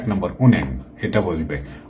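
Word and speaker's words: 은행: এই যে 1 নম্বর উন্যাং, এটা বলবে। উনহ্যাং, উনহ্যাং এটা এইরকম করে বলা মানে যে ঠিক না, কারণ নিয়ন বাচ্চার পরে হিয়ত আসলে এই নিয়নটা এখানে ডবল হবে, কারণ এই হিয়তটা নিয়নে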